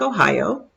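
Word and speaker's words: ohayō: rehearsed her textbook japanese ohio pronounced just like ohio for good morning gomen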